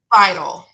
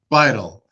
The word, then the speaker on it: Beitel: This time, I'm excited to have Beitel with me. And I apologize, I mispronounced that. It's okay, it happens a lot. You're used to it. How should I pronounce that? Beitel. Beitel.